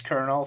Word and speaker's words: colonel: Or like the word kernel, you spell it like colonel or colonel, but you pronounce it as kernel.